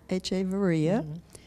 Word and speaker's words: Echeverria: this is an interview with echeveria by pronouncing the Avery ax echevarría for the transcriber ec h ve r RI